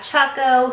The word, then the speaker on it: Choco: and it is pronounced Chaco kind of like choco taco you know I didn't